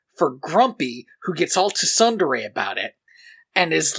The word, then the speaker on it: tsundere: Are you trying to say tsundere? Do you not pronounce the T? I see it written. No. Then, sorry, if it's a Japanese word that we're writing in English, why do we put letters that we don't need in it?